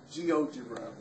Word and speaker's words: GeoGebra: How do you pronounce that? GeoGebra, like algebra.